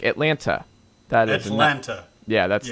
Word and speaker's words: Atlanta: This is how you'll always know if someone's from Atlanta or not.